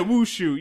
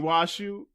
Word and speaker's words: Washu: You said the name wrong too. Oh my. You said Wushu. You mean Washu?